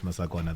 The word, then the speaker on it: Masakona: it correctly no you did I didy masakona those are my masakona my wife likes saying to me like how do you pronounce it's just interesting I think it's part